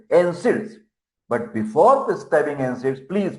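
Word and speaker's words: NSAID: Capital nonsteroidal anti-inflammatory drugs Neds pronunciation is nids but before prescribing and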